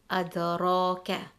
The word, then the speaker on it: adraka: If the letter ra has a fatha or a dhamma, then we will read the ra heavy. Example, adraka.